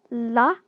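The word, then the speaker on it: ㄹ: So next up we have la or ra. this is something which is a bit complicated to pronounce correctly. It's more like it's an L plus R sound.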